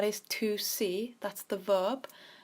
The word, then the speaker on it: ver: Then we have ver, sí, that is to see, that's the verb. So this is pronounced with a B, ver.